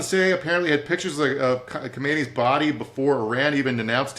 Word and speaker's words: Khamenei: I never say it right. I know it's more like Khamenei, but I'm gonna use my American mouth to say Khamenei the way everybody here says it.